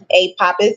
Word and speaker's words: Apophis: to pronounce a papus a papus is pronounced a papus Aus generally with an emphasis on the second syllable pa okay so what